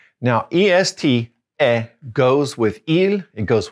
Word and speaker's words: est: All right, now on the bottom left, we're going to put one word, and that is also eh, but we're going to spell it E-S-T. Now, E-S-T, eh, goes with il, it goes with elle, and it goes with on.